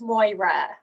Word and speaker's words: Maire: It's Moira. It's Moira. Okay. I'm French, so I was going to say Maire. So Moira, that's awesome.